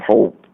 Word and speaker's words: hop: I didn't he used the old English word hope for help but he pronounced it as hope let me get this